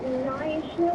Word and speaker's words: Knysna: I'm actually in a place called Knysna with a silent K.